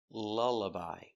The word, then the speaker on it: lullaby: Lull, lullaby. So we see the sound 2 times.